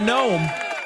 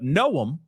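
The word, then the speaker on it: Noem: Pronouncing her name correctly. Not gnome like a garden gnome, but know him. Okay. Like I didn't know him.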